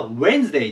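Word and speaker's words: Wednesday: w D N E これに D がつきます発音がウェンズデーと言いますウェンズデイで明日ギリ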